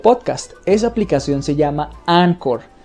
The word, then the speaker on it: Anchor: esa aplicación se llama ancor se pronuncia así pero se escribe anchor porque viene del inglés and work es una